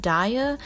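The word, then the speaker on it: Daiya: Daya, which I still don't know why you would put an I in it if you don't want it to be pronounced Daya.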